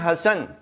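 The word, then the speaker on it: حسن: और अगला लज देखें हसन हजरत अली बिन अबी तालिब अल सलाम के बेटे बाज लोग इसके जो स्पेलिंग है अंग्रेजी में वो गलत लिखते हैं एच A double S ए एन ऐसे नहीं है क्योंकि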